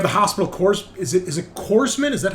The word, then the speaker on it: corpsman: Is it corpsman? Is that how it's pronounced, Eric? Is the P silent? Corpsman? Yeah, corpsman. Corpsman. Okay. Just like it's Marine Corps, right? Not corpse.